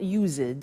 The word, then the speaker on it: used to: ed and then tio but the pronunciation is not used it's used unusual used ok so the